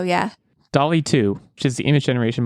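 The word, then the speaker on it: DALL-E: to say it wrong is it dolly is it like Wally I think so yeah Dolly too which is the image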